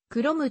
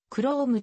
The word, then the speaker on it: Chrome: としているクロムは一般にクロムと発音される金属クロムと同じスペリングであるが本シリーズにおいては chrome と発音されるのが一般的である楽しくご覧になり